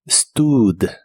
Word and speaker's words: stood: usa una doble o esta doble o se pronuncia como una u larga en esta palabra stud stud y la puedes usar